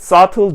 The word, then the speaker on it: subtle: 자, they can find subtle differences. 여기서도 발음 주의하시면 좋겠어요. subtle 이라는 표현인데 여러분들이 이 subtle이라는 표현에서 B를 발음하시면 안 돼요. B는 silence, 묵음이고요.